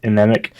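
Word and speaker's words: Mnemic: Anemic. No, it's M. M. Okay, yeah. Because the M is silent.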